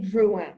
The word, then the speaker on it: Drouhin: No, this just says Drouhin, and it's Drouhin, correct? It's Domaine Drouhin. Yes. Drouhin, Vaudon, 2018 Chablis, Joseph Drouhin. Okay. But I mean, in America, we always say Drouhin, right? But it's really Drouhin.